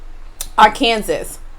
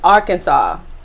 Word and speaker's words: Arkansas: the way i said our kansas i did not realize that the pronunciation is arkansas i think that's what